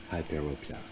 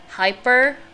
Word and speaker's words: hyperopia: Hyperopia. Oh, that's how you say it. Out of the ordinary? That's how you say because it's myopia, so I just tap hypermyopia is how I always say it.